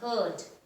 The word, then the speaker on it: heard: careful of the word heard that looks like beard and sounds like bird so if you see